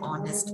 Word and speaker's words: honest: जब मैंने pronounce it, so before this we use an article. Next is he is an honest man.